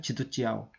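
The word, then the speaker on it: 基督教: 우리식으로 하면은 기독교인데 중국식으로 하면은 지두찌아오거든요. 지두찌아오.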